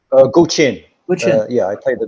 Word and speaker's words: Guqin: How's it pronounced? Guqin.